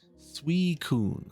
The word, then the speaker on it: Suicune: Suicune. That's how you say it. Suicune. Kind of a French name.